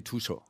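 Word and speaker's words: Tuxho: Okay, wie schreibt man das? T-U-X-H-O. Okay, Tushu.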